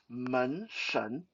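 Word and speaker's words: 门神: First of all, uh, door god in Mandarin is Men Shen, Shen, Shen, uh, or Shing, if you want to go with the Japanese pronunciation of Shin. Um, but in Mandarin we pronounce it Shen.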